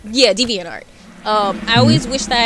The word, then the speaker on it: DeviantArt: gotten into what's that site called i never pronounced it right like the devon art or whatever it is oh deviantart yeah deviantart um i always wish that i had realized